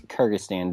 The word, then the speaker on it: Kyrgyzstan: Also, a special shout-out to our sole listener in Kyrgyzstan. It's Kyrgyzstan, Dean. Charlie, our resident expert in all things pronunciation.